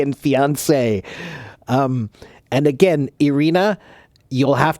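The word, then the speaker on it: fiancée: So, yeah, Irina, again, those 2 words, those are pronounced the same. Fiancé and fiancé.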